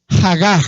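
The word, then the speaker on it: הגה: Diga la palabra hag hag así como se escucha Aunque es con h al final y y al principio pero se pronuncia hag Sabe qué es hag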